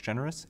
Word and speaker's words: Generous: my name is generous a l e x g n r o u s just like the word any letters after your